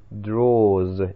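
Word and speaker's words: drawers: слова chest of draws внимание на последнюю третью часть draws читается Именно таким образом chest of draws комод А эта стрелочка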